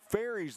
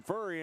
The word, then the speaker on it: Ferry: been saying uh kyle ferry's name wrong all night i've been saying furry and it's actually ferry so thanks brent who's